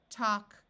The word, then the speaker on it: talk: have words ending in Al K in all of these words the a will take on its broad sound of a so we have walk talk chalk and stalk in all these words